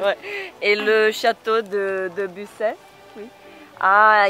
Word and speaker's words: Busset: E fui no outro castelo que chama Busset. Não pronuncio o T no final. Mas o T não se fala, tá? Não é Busset, não.